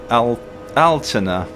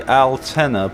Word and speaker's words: Altena: The next stop will be Altena. I always want to say Altena, but apparently the Germans pronounce it Altena.